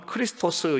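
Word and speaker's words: Χριστός: 있는지를 알수가 있습니다 자 그리스도는 헬라어 로서 정확한 발음은 크리스토 스 입니다 그리고 이는 시보리 어로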